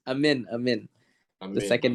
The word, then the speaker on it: Amine: Before we continue, it's pronounced Amin. I'm The in. second name. Yeah. So Prince Amin.